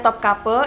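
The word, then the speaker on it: Topkapı: kaki di istana topkapi Kenapa bacanya top couple itu aku ngikutin creature gaib aku yang orang Turki waktu dia menjelaskan tentang istana topkapi itu ketulusannya topkapi ya dia bilang top couple jadi aku bakal bilang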